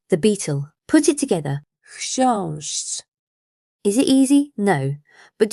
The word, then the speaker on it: chrząszcz: and our word in the beginning for beetle, chrząszcz. So let's go back to where we started, the beetle. Put it together. Chrząszcz.